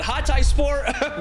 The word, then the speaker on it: Hatayspor: I know I've said it wrong in my previous videos, but Hatayspor, welcome to the Champions League.